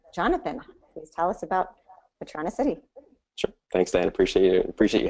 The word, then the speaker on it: Patronicity: Patronicity is, am I pronouncing that right, Jonathan?